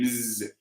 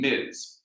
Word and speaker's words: Ms.: So it's MZ, Ms. That's the pronunciation, Ms.